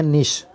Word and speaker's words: niche: यहाँ पर एक वर्ड आया है NICHE, इसको नीच या निश दोनों प्रकार से पढ़ सकते हैं। एक अमेरिकन लिटरेचर होता है और एक ब्रिटेन होता है ना, इंग्लिश होती है, उनमें दोनों में इसका प्रोनाउंसिएशन थोड़ा सा अलग अलग होता है।